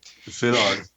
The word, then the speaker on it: Szilard: Leo Szilard, Dad, you'll have to pronounce that too because I'm butchering it. Szilard.